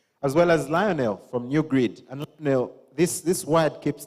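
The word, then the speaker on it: GnuGrid: way it's spelled guys it's spelled g n u g r i d these guys for one reason or another chose to call that new GD G you know gnu new grid so this eminent panel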